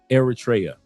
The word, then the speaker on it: Eritrea: Eratria has over 80. Eratraa. Thank you for the proper pronunciation.